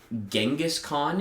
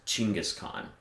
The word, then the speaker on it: Genghis Khan: nerds like me but genghis khan is a mispronunciation it's pronounced chingus khan because the that hard g does not appear in the mongol language and it's not even